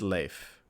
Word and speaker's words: Leif: Lave. Lave. All right. I watched 2 YouTube videos, and it's Leif.